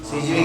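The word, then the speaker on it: Sidgwick: Active atomic अबे ये सीजीविक ने दिया था किसने दिया था सीजीविक सीजीविक स्पेलिंग तो समझ सकते हो आप एस से चालू होके के पे खत्म होता है अंदर उधर सीजविक आता होगा, बराबर।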